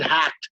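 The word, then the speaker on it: HAGT: but we call it hacked for short h-a-g-t that's pronounced hack and hacked is an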